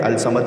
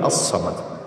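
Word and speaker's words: الصمد: इस पर गौर कीजिएगा, आप लिखते हैं अलिफ लाम स्वाद मीम दाल, पढ़ते हैं अलसमद नहीं अस्समद, लाम साइलेंट है।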